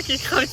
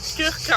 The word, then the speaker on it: Krka: Non, ça se prononce pas Kekra, pardon. Non, justement c'est pas Kekra, c'est Krka, voilà, je crois que c'est ça.